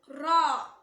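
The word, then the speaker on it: راء: இதை ப்ரொனவுன்ஸ் பண்ணும்போது தெளிவா உச்சரிக்கணும். சில பேர் எப்படி சொல்வாங்கன்னா, ராவை சொல்லும்போது கூடவே இன்னும் கொஞ்சம் எக்ஸ்ட்ராவா ராவை ஆட் பண்ணி சொல்வாங்க. எக்ஸாம்பிள் சொல்லணும்னா அர் ரஹ்மான், அர், அந்த மாதிரி வண்டி ஓட்டுற சவுண்ட் மாதிரி வரும். அந்த மாதிரி ஓடக்கூடாது. அர் ரஹ்மான் அந்த மாதிரி ஓதணும்.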